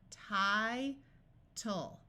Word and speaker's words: title: The first syllable ends in a vowel, so we will try the vowel's long sound. Title, title.